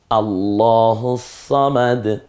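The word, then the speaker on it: اللَّهُ الصَّمَدُ: যে হরফটা দেখতে পাচ্ছি এটার নাম হচ্ছে সদ আল্লাহুস সামাদ বলুন তো একটু আমার সাথে আল্লাহুস সামাদ আমি তিনটা বলি দেখি তো তিনটা উচ্চারণ করব আপনি কোনটা সওয়াব দিয়ে বলেছি আপনি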